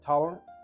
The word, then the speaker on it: Torrance: How do you pronounce Jack's last name? Torrance.